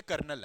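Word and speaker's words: colonel: कर्नल, कोलोनल, this is the spelling of कर्नल। हाँ तो कर्नल, नहीं, ना ना, आप देखोगे ना तो इसमें जो होता ये है, बट बोलते कर्नल है ना, तो दिस इज द स्पेलिंग।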